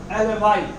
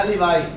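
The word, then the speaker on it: alibi: अगला एलिबाई, एलिबाई, एलिबाई, एलिबी भी कह सकते हैं इसको, लेकिन इसका प्रोनाउंसिएशन है एलिबाई। एलिबाई means the plea of being elsewhere, the plea of being elsewhere.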